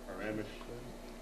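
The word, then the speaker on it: Przemyśl: the state archive in paramesh r z e m y s l pronounced parameters it may be a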